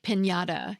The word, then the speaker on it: piñata: Finally, the tilde is a little wavy line that sits above the letter N and creates that distinctive ñ sound in Spanish words.